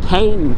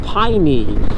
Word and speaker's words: Paine: I thought it was pronounced Paine for like the whole time, but actually I read last night that it's actually from the native Tehelque language and it's pronounced Paine.